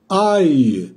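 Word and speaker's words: აი: Bunun okunuşu da şöyle okunuyor arkadaşlar. Ay, ay. Hani biz gökteki aya ne deriz? Ay, ay. İşte ay diye okunuyor bu. Aynen gökteki ayı okuduğumuz gibi.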